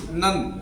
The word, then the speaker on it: none: अगली बात करते हैं NONE, नन। नन मीन्स होता है कोई नहीं, मतलब कोई नहीं है।